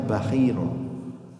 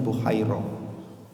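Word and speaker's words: Bahira: Ada yang membacanya Bahiro, ada yang membacanya Buhairo.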